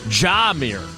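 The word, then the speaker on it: Jahmyr: gibbs's first name j-a-h-m-y-r and according to the Lions it's Jamir and I would have said Jamir so that's all that's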